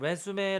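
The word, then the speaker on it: résumé: 좋을 것 같아요 그다음 왜 숨에 라고 읽으면 이력서 구요 그 때는 보통 이제 뭐 앞에 이렇게 딱 찍어 주는데 왜 슴에 하면서 이렇게 표시를 할 수가 없네요 아무튼 어 근데 동사로 사용되면 위 즈음 이라고 합니다 이 때는 이제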